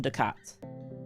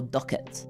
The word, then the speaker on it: ducat: I would love to own a Venetian ducat or ducket or whatever you want to pronounce it as.